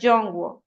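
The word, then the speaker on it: 中国: el nombre, o sea, el nombre China en mandarín y no sé si alguno estudia mandarín, eh, se pronuncia Jongw y son estos caracteres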